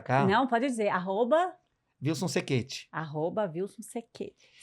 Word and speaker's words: Cechetti: Não, pode dizer, Wilson Sequete. @Wilson Sequete. Sequete com C, tá, gente? Sechete, se escreve Sechete, vocês vão encontrar lá, isso aí lá no... Com 2 T's.